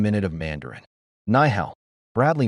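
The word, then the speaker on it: 你好: Ni hao. Bradley mispronounced it. The room laughed softly. Lucia didn't mock. She corrected gently. Nihao. Push the breath.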